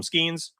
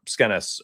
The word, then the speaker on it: Skenes: I used to always call him Skeens. And then people are like, oh, donuts, it's not too easy there. So here we are. Skenes.